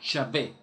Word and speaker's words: Yahvé: Él utiliza un término hebreo que es la unión de varias consonantes, la I, la H, la W y la H. Y cuando las personas quieren tratar de pronunciar ese nombre, surge de manera fonética la palabra Yahvé.